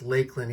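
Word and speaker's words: Lakland: And it is pronounced Lakeland, even though there's no E between the K and the L.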